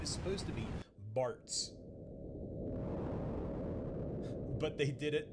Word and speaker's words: Bartz: Yeah, his name is supposed to be Bartz. But they did it Butts instead of Bartz. Butts. It's spelled with a Z, by the way.